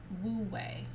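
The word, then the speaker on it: wu wei: taoism called or wu it's technically pronounced oo but it's spelled w u and then the second word is w-e-i so it's pronounced or but you can say woo way if that feels better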